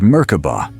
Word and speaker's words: Merkaba: The word merkoba comes from ancient Egyptian and Hebrew roots. In one interpretation, it breaks down into three syllables. Meaning light ca meaning spirit and ba meaning body.